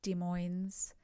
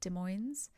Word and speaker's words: Des Moines: I've heard this pronounced many different ways, but I think it's Des Moines community.